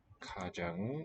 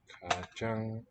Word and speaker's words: 가장: 가장 is this adverbial. Ka, first syllable, and then 장, got the same vowel. That's the symbol on the right, top right. 가장 맛있는.